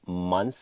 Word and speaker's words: months: Moved in 辅圆连读，后面这个 like 的美音 k 要吞进去。最后两个单词 months ago 也是连读，这里的窍门就是大家注意看这个 month，它后面有一个咬舌音，再加一个 s，一个 s 的发音就很纠结，容易卡，所以有的学生不知道怎么读。其实特别简单，把这个咬舌音直接抹掉，直接读一个 s，就变成 months ago， months ago。